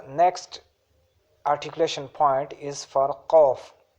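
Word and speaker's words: ق: So the next articulation point is for qaf. Qaf, Qaf from deepest part of the tongue. It is pronounced from deepest part of the tongue, from the soft plate near the uvula, like Qaf.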